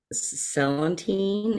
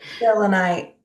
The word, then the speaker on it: selenite: But I'll use a celandine. Is that right? Did I say it right? Selenite. Selenite. I Right. know I always say it wrong.